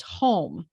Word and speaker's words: Hume: And it came, even though his last name is spelled Hume, Hume, or is it either way, it's spelled one way, but it's pronounced home, which is what the poem was about.